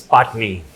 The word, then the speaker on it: Patani: It's Patni. It's It's Patni. I think it's as simple And as why that. you spell it Patani?